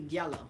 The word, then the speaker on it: Diallo: And I met a Senegalese brother, and he told me I was pronouncing it wrong, because we call him Tell me that, Diallo, right. and it's really Diallo. Yeah. Jello. It's more like a. J.